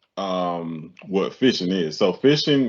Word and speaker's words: phishing: what fishing is so fishing is is almost what it sounds like but it's spelled with a ph instead so fishing is when